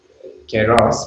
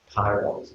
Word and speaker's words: kairos: Keros, which is how you pronounce that, Kairos for the English, is about time which isn't measured.